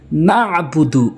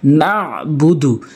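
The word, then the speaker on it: نعبد: ইয়াকা বলতে হবে ইয়াকা নাবুদু অনেকে ভুল বলে ভুল করে নাবুদু বলে নাবুদু আইনের উচ্চারণটি বাদ দিয়ে ফেলে এখানে আইন হলকের মাঝখান থেকে উচ্চারণ করতে হবে নাবুদু নাবুদুকা অনেকে বলে উচ্চারণ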